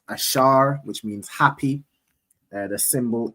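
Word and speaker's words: אשר: So those those countries in between there are predominantly the tribe of Asha right in the Hebrew it's ash pronounced ashar which means happy the symbol is the royal dainties which is typically grapes.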